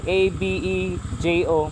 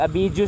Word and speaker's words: Abejo: Tapos Abio, A-B-E-J-O. Murag Abidjo siya ba, pero pag pronounce Abejo.